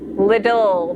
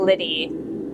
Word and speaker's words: Lidl: Little, not Liddy. Huh. Yeah, my pronunciation is going to be absolutely awful. Unless you guys give me phonetic spellings of things. Like Lidl with a long I.